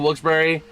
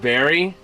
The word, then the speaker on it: Wilkes-Barre: Personally, it always felt weird to me at the second half of Wilkes-Barre It's pronounced Barry. I thought it'll be Wilkes Bar because I'm so used to silent E's, or Wilkes Bear.